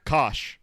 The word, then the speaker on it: Coish: Yeah, everyone always pronounces it Coish, but 5 years and you still remember the right way. Coish.